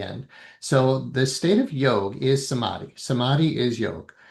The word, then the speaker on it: yoga: But um you could say yoga or yog, but when I lived in India, it was definitely yog without the uh the almost the longer a at the end.